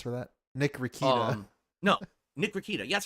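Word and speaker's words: Nick Rekieta: No, Nick Rakita.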